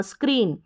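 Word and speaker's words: screen: चलिए SCR आएगा ना, जब भी नोट कर लीजिए, SCR, इसको स्क्र पढ़ेंगे, स्क्र ई न, स्क्रीन, क्या है, स्क्रीन। फिर देखिए आगे ब्र, BR का उच्चारण ब्र होता है, लिख लीजिए, BR का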